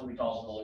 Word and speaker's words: l'Hospital: called what we call it's pronounced will be causal it kind of looks like hospital i know um it's a bridge name um that's just how it's pronounced so what we talk